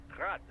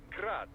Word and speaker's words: Grad: technically zi's name is pronounced grad the Ukrainian way but most in the business pronounce it as grad Russian Style crazy to think I'd